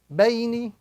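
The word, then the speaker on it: بَيْنِ: The second word, ba, ya, sukun fatha bay, noon kasrani, bayni.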